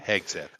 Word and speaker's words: Hegseth: A guy like a Hesketh, how do you say that name? Hegseth.